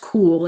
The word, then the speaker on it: QUL: The product line that I'm using now is it's pronounced cool. It's spelled QUL.